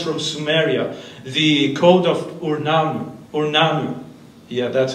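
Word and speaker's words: Ur-Nammu: It comes from Sumeria, the Code of Urnanu.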